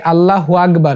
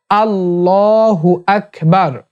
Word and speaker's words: আল্লাহু আকবার: আকবার আল্লাহু আকবার অনেকে আল্লাহ আল্লাহু আকবার বলে এটা ভুল উচ্চারণ আল্লাহ বলতে হবে আর হু আকবার বলতে হবে তাহলে আল্লাহু আকবার তিন নাম্বারটা আলহামদুলিল্লাহ আলহামদুলিল্লাহ